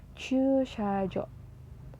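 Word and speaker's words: 駐車場: Jadi bacanya chushajo untuk membedakan bahwa huruf tersebut dibaca panjang atau enggak.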